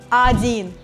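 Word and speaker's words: один: word number five and it's adin again remember about the pronunciation rule here letter or is not stressed so i'm saying it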